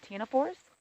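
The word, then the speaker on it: Ctenophora: a completely different phyla called tinoforce uh the c in the front is silent c t e n o four and by and large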